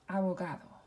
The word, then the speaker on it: abogado: Ends with a vowel, so the next to last syllable is underlined. And so we would pronounce this abogado, abogado.